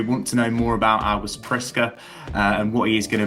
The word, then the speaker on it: August Priske: Swedish newspaper Expressen to discuss all things August Friska. That is the pronunciation I I checked it out with Jonathan before we came on air.